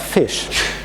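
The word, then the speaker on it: ghoti: However, people argued, well, you could speak that as fish. So how do you get to fish from that? Well, the GH could be pronounced as an F like in tough, where you have a GH in the end, which is spoken like F.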